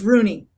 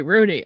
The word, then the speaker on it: Rugne: It's Rooney. The G is silent. Silent G, Rooney.